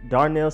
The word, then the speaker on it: Darnell: we have defensive back Darnell Savage it's not Donald it's not Darnell it is dark nail like hammer and nail savage Darnell Savage easy but it's just one